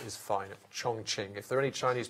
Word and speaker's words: Chongqing: yesterday and they have assured me that the pronunciation is fine Chongqing if there are any Chinese people listening who